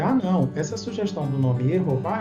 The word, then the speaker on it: Yehová: Também vimos a respeito do nome do Pai, Yehová, Jeová Deus. Em hebraico, aqui nós temos duas sílabas, Yeho, e depois Vá.